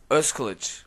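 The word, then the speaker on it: Özkılıç: Pronounce it again for me. Ozkilic.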